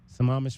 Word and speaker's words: Sammamish: Is that how you pronounce it? Sammamish, Washington, suburban Seattle. Can we just say that? Yes, you can say that.